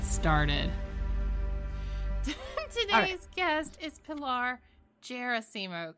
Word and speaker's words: Gerasimo: Today's guest is Pilar Gerasimo, correct? Did I get it wrong again? Yeah. No, Gerasimo, that's right. I always tell people it's like Seymour, but with a Gera on the front. So Gerasimo.